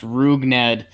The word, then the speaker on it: Rougned: we're watching you yeah they're saying it's pronounced rougned and more important information